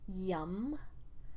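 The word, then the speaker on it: yam: The first sound is yum, Y-A-M, but it's pronounced yum.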